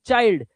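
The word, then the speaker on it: child: जब आई के बाद एन डी या एल डी आएगा तो आई का उच्चारण आई ही करना।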